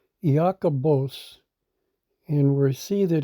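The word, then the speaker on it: Ἰάκωβος: And we see this is pronounced in the Greek Iakobos, and its definition is, interestingly enough, James, meaning a supplanter.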